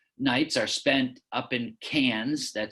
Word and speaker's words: Cairns: For example, the first four nights are spent up in Cairns - that's spelled C-A-I-R-N-S - that's a bucket list destination for many students.